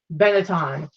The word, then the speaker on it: Benetton: And this is a United Colors of, how do you pronounce it? Benetton.